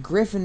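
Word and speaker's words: Gryphon: G-R-Y-P-H-O-N. Griffin! It's not spelled like Griffin as in the...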